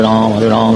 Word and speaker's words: राम: सारे followers foreigners थे, तो इसीलिए उनका जो उच्चारण है वो राम से रामा हो गया और धीरे धीरे करके कृष्ण से कृष्णा हो गया।